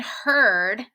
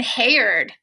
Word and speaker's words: herd: what they sound like for example word bird and herd all rhyme a lot of times people try to say them differently like word beard and haired that's not correct so